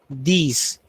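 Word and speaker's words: dix: And number 10 is pronounced as these. These are my books.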